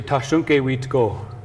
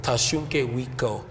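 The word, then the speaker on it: Tȟašúŋke Witkó: So in our language, we say Tashunke Witko. Tashunke Witko.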